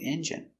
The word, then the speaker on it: engine: So, this car needs a new engine. Pronunciation engine. E N J. Strong. J engine I engine stress only first syllable engine he has to put a new engine in his old car engine.